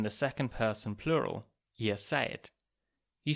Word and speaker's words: seid: So a D at the end of a word or a syllable would usually be pronounced as a T.